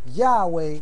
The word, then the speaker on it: Yahweh: Yud He Wav He in the ancient Hebrew, Yahweh in Hebrew transliteration.